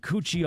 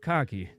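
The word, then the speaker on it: Cocchi: cardamaro Ros leur and coochie Americano he goes It's pronounced cocky well yes I am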